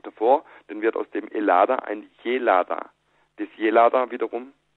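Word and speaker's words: Ελλάδα: eine Umstand dazu äh dass Griechenland eigentlich in in Griechenland nicht als Hellas gesprochen wird sondern als elada also e l L A D A so jetzt nehme ich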